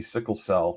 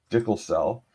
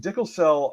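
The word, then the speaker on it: DICLSAL: people call it well it used to be Sickle Cell was how they would pronounce the acronym now I guess it's dickle cell um but that often Dickel cell uh issued a document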